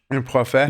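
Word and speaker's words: Prophète: Profet.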